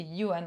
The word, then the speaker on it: Yoann: signaler parce que c'est j'allais dire Joannès goupille mais pas du tout c'est Yoann en fait ça se prononce c'est un auteur qu'on